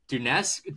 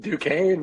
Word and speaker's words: Duquesne: Dunesk? Duquesne? Duquesne, man.